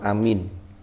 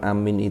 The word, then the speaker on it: amin: Pengucapan amin itu terdapat beberapa bahasa, terdapat beberapa dialek. Yang paling fasih itu yang seperti yang kita ucapkan. Amin. Bil maddi, a-nya itu panjang, min-nya itu takhfifil mim. Jadi mimnya tanpa tasydid, berarti a min. Ya a panjang, minnya juga panjang. Atau yang kedua, ada yang membaca a-nya pendek, bil qasri. Ya, amin. Jadi gitu bacanya.